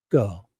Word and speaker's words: Gull: So I would say it like this. Judge Gull. I love the seagull.